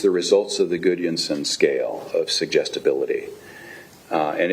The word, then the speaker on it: Gudjonsson: Yes, it is Gudjonsson. How's my pronunciation?